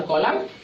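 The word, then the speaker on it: column: एम एन ठीक है तो इसमें भी एन साइलेंट है और कॉलम इसको पढ़ेंगे ठीक है तो उसमें ओ हम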